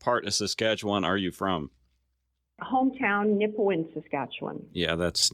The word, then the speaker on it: Nipawin: It's Nipawin, Nipawin. Nipawin. And you know how I know how to spell it?